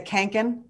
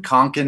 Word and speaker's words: Kånken: say that right the kanken it depends on where you're from canada's kind of western konkan is kind of eastern and then the swedes